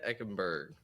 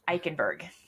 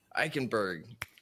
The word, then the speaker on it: Eickenberg: today we have a very special guest Tenya ekenberg I said that right correct yeah Tena ikenberg ikenberg so close sorry about that it's all it's